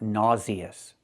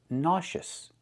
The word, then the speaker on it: nauseous: It is not nauseious. It's nauseous. Nash. Use the shh sound like in shoes and fish. Sh. Nauseous. And the short uh sound. Us. Nauseous. Not nauseous. It's pronounced nauseous.